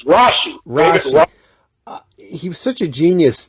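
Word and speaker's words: Rasche: I always said David Rashke. How do you pronounce his actual name? Oh, his name's Rashi.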